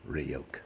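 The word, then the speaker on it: Ryuk: lampshading Rider I wonder that come up it's pronounced roke oh hi God please stop speaking sorry for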